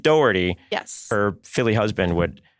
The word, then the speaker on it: Dougherty: name because it's very specific even though it's spelled like Doty yes her Philly husband would hunt me down